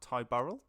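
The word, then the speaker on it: Ty Burrell: 10 years also just want to shout out Ty Burl that's how you pronounce his name from family loved that I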